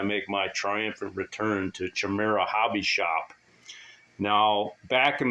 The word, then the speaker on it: Chimera: The word's actually pronounced chimera, but everybody calls it Chimera. It's just kind of like the caramel thing.